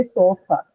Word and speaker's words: sofa: If I ask you where is the stress in sofa, sofa, that is, where will you mark the stress in sofa? How many syllables in sofa? Let's begin with that. How many syllables do we have in sofa? 2, ma'am. 2. Two, right? We have two syllables in sofa, right? So, which one among these two is stress mark? The first one.